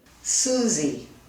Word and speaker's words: Susie: For instance, my name is Susie. Susie. כמה הברות יש בשם שלי? 2. נכון. איזה הברה מותאמת? Susie. Sue. נכון.